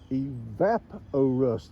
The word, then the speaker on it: Evapo-Rust: Correct pronunciation is Evapo-rust, like evaporating. It is not evap, it's vap. It's clearly said, it rhymes with map.